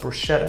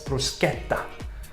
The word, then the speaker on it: bruschetta: Just like bruschetta is not pronounced bruschetta, it's bruschetta.